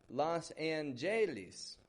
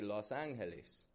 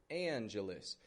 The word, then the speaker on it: Los Angeles: And that E in the middle is becoming a schwa, Anja. So again, not Los Angeles or Angeles. In Spanish, of course, it would be Los Angeles, Angeles. But an English speaker would say Anja, Angelus. Changing the stress a little bit, Americanizing the Spanish word.